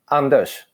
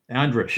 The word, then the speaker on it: Anders: Well, I'm giving give us the Swedish pronunciation of Anders. Anders. Anders. You have to sound happy when you speak any Scandinavian language. All right, it's spelled Anders, so an American reading would read as Anders.